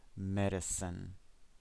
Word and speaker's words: medicine: It's, look, the stress is on the first syllable. Medicine.